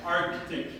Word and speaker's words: Arctic: But you actually have to in a perfect English, you would have to pronounce this C and go like Arctic. Same goes for Antarctic, all right? So you have to try and you would have to try and shove the C in there somewhere.